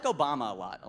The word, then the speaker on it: Obama: And then Obama that rhymes with Osama.